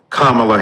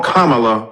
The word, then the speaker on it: Kamala: insisted upon misnaming mispronouncing kamla Harris do you call Melania Melania do you call Ivanka Ivanka then call Kamala Kamala then call vice president Harris vice president Kamala Harris and soon we